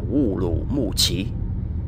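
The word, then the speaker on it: 乌鲁木齐: Urumqi, tiếng Việt Ô Lỗ Mộc Tề, tiếng Hán đọc là Wu Lu Mu Chi.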